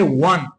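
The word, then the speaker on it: one: व इस तरह हमारे पास लब्ज़ है वन। तो ये वन और वन। यहां ये जो ओ है ये वोवेल डब्ल्यू कांसोनेंट की आवाज देता है।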